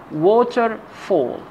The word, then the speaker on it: waterfall: part of the word for example water fall we say waterfall so the first syllable is a pronounced louder in and higher in sound waterfall